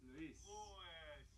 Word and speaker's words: Louis: Louis. I think you always say Louise, but it is Louis.